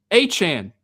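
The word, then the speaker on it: Etienne: Uh, lastly, Travis Achan is how you pronounce Travis ETN.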